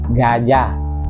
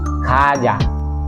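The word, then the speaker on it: 가자: kaja okay hindi siya hindi siya kaja hindi rin siya gaja Okay so ang tamang pronunciation is ka ka ka kaja Okay so kaja meaning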